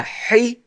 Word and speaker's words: hijab: And after the jim, we hear an alif sound. Hijab. The a sound.